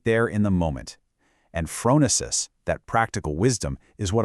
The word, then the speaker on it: phronesis: And this brings us to another awesome Greek concept, phronesis, pronounced Phronesis.